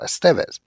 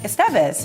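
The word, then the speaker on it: Estévez: So it would put the emphasis on the second syllable, Estevez.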